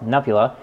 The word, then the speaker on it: Nupehadda: I haven't done a guest profile in a while, and a friend of mine named Nupehadda, or as he pronounces himself, Nupula, happens to be an